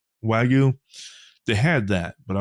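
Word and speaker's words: Wagyu: that um uh the is it pronounced Wu or Wagu? Wagu.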